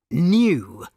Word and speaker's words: knew: Some words begin with silent letters. We cannot hear the silent letters when we say the words. Knew. The doctor knew he needed more medicine. We cannot hear the K in knew.